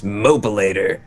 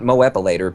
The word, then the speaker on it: Mopilator: I want a Mopilator is how I'm going to choose to pronounce this. Mopilator. Not Moepilator, but Mopilator has donated $5 and says, hi guys, thanks for the great work.